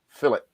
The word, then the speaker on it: filet: like a filet mignon you pronounce it filet right they pronounce it fill it yeah say fill it and tourniquet and we as oh so many people they call it philip they're uneducated get me